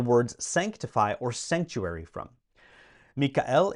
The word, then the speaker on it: Michael: sanctify or Sanctuary from Mikel is how you would say it in Latin but it's Michael and it's spelled exactly the same way Archangel of course means